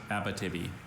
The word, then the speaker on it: Abitibi: Is any alternate pronunciations? Just Abitibi.